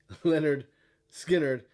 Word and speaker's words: Lynyrd Skynyrd: you don't know about Lynyrd Skynyrd's debut album pronounced Leonard skinnard and I don't know